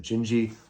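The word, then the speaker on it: Dindi: uh jindy or dindy it's spelled dindy but he pronounces it gingi like ginger so uh it's really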